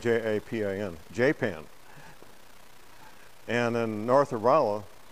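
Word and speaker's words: Japan: It's spelled J-A-P-A-N, J-Pan.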